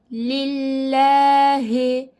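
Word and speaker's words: لِلّٰهِ: Esre olduğunda ince okuyorduk lillahi lillahi bu şekilde bakıyorum Allah lafzından önceki harfin harekesi Esre o zaman diyeceğim ki lam harfini la diye kalın değil le le e a arası ince okuyacağım Mini bu şekilde dille dille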